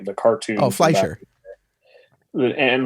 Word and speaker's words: Fleischer: And like the Max, what is it, Flexinger, or I can never pronounce his name, the cartoon. Oh, Fleischer.